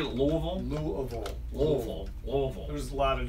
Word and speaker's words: Louisville: I was talking to my brother yesterday back in Louisville.